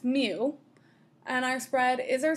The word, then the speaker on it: mu: the parameters are mu that's a greek letter it's pronounced mu it's the mean and